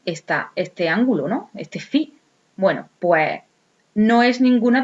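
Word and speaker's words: φ: lo caracteriza mos con esta letra griega que se pronuncia fi vale pues entonces lo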